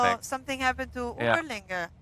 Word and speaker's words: Überlingen: Überlinger. How do you say? Überlingen, yes.